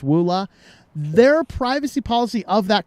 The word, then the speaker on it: EULA: The privacy policy, the privacy policy that sounded like or looked like EULA, what I think is pronounced WULA, their privacy policy of that company actually talks about doing the same thing.